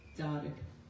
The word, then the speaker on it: Darag: From his website, he writes that Darag is pronounced like car and rig, Cardig, Darag.